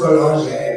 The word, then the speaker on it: Boulanger: I don't know, it's French. It's pronounced Boulanger, but like, Yeah.